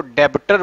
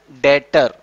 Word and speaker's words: debtor: कोई पढ़ता है इसको डेबटर पढ़ देता है, इसके अंदर बी मेंशन है इसको क्या पढ़ देता है, डेबटर। लेकिन इसके अंदर बी जो है वो साइलेंट है, इसको क्या पढ़ेंगे, डेटर। बी को हटा दोगे क्या पढ़ेंगे, डेटर।